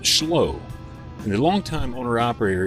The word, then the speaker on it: Schloo: spelled s c h l o o but pronounced schow and the longtime owner operator is headquartered in